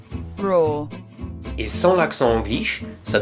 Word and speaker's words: RAW: Alors, pour ceux qui auraient encore des doutes sur la prononciation, RAW est un mot anglais qui signifie brut. Et en anglais, ça se prononce RAW.